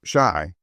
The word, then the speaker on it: Chi: Chi, pronounced shy, by the way, is the argot for Chicago.